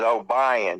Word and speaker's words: Obion: And it's OBION is O'Brien, because you live in the South. It's pronounced that way.